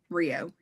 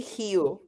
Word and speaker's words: Rio: So yeah, I can't pronounce any of this other than Rio. Yes, but we say hu. So even that's not 100% right.